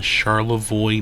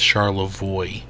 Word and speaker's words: Charlevoix: and we are in charoy Michigan I believe I'm pronouncing that right I looked it up I may have pronounced it wrong in another video but uh I believe it's charoy and man do we